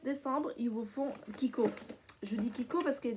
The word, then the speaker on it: Kiko: ya des gens qui de chico ça se prononce qui courent je pense pas que moi entraîne au pérou mais ça s'écrit chico parce que bon voila mais ses marques italiennes du coup ça se prononce kiko et donc je cours